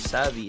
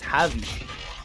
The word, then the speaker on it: Javi: As you can see, quick 3-0, and apparently I've just received word, no, Yusuke, that Savvy is not actually pronounced as Savvy, it's Javi, as in Jade.